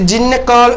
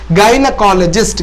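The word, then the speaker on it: gynecologist: பாருங்க கைனகாலஜிஸ்ட் அப்படின்னா கைனகாலஜிஸ்ட் இது ஜின்னகால் அப்படி எல்லாம் வாசிச்சிடக்கூடாது இதனுடைய உச்சரிப்பு கைனகாலஜிஸ்ட் கைனகாலஜிஸ்ட் அப்படின்னா இந்த மகப்பேறு மருத்துவர்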